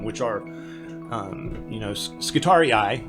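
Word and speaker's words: Skitarii: are um you know skittari eye which is how you pronounce scitorius plurally so they're actually bad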